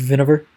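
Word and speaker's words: Winawer: It's spelled the Winnower, like W-I-N-A-W-E-R. But it's pronounced Vinegar. It's one of those languages. I don't know what languages those really are. But those languages that pronounce their W's as V's, like German.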